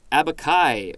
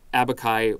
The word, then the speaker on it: abaci: Noun, plural, is abaci, or I believe it's a hard C there.